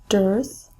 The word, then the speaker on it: dearth: vocabulary matching number one dearth which rhymes with earth is a great lack